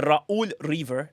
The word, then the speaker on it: Ra'ul Reaver: The RA'Ul Reaver, that's how you pronounce it, by the way. You have to overpronounce the RA'Ul.